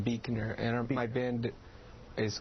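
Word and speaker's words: Buechner: them have bands Carl Buckner is that how you say it Carl it's actually pronounced Beaker and my band is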